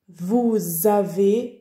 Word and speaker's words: vous avez: personnes vous avez travaillé vous avez travaillé ici on doit prononcer un petit z nous avons travaillé vous